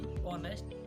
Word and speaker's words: honest: तो एच से हम क्या करते हैं, एच से हम कुछ भी नहीं पढ़ते हैं। एच वहाँ सिर्फ स्पेलिंग पूरी करने के लिए होता है, वर्ड में स्पेलिंग पूरी करने के लिए होता है। एग्जाम्पल मैं आपको बता देता हूँ, यहाँ आप देख लीजिए, HONEST, ऑनेस्ट, तो एच आया जरूर है, लेकिन ऐसे हमने ऑनेस्ट नहीं लगाया, ऑनेस्ट लगाया है, ठीक है।